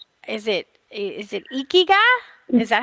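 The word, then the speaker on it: ikigai: japanese word and it's is it is it ikiga is that how you say it uh-huh yeah it's in it's an intangible and it's loosely translates to our purpose so can you go more into detail on ikiga and the meaning behind it and how you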